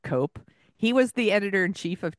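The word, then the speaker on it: Koepp: written by David and Stephen cop I think is how you pronounce it and Stephen cop or cop what's the spelling c OE p p okay sounds like cope he was the editorinchief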